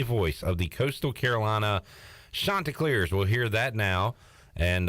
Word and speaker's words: Chanticleers: to Joe Katz and he corrected me on the pronunciation and I thought I thought I said to him chanticleers and he said it was chanticleers but no it is chanticleers am I getting it right now it is you're perfect